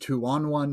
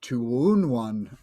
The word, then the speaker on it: Two On One: And remember, it's pronounced Tuonwan, not Tuunwan.